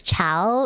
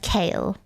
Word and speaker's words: Chaol: I was saying like there was this book character whose name was spelled Chaol. And so I pronounced his name as Chow in my head when I was reading. And then it was ended up being pronounced kale.